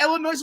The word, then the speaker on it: Illinois: She's coming back to Illinois, not Illinois with an S because y'all don't know how to say the word Illinois.